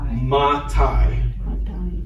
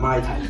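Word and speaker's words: מתי: Ma Tai. Ma Tai. When am I supposed to wear Ma Tai? It means It means when. It's a way to remember when. Ma Tai, not my tie.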